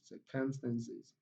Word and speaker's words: circumstances: Now here we have four syllables. Can here contains a sure sound, so it's not stressed. Stand contains a sure sound, it's not stressed. Sis contains short e, it's equally a weak vowel, so the syllable is not stressed. So the only syllable that contains a strong vowel sound here is sir, sir. So it takes the primary stress.